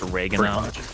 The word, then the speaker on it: Reagan: Age in American history single I know it's pronounced Reagan look can we get a statue of you